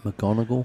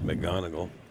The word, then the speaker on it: McGonigal: I mean, I keep saying that name wrong. McGonigal. McGonigal.